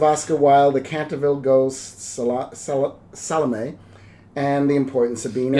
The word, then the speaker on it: Salome: the Trials of Oscar Wilde, The Canterville Ghost, Salome, and The Importance of Being Earnest. You have to say it like Gloria Swanson says it. Salome.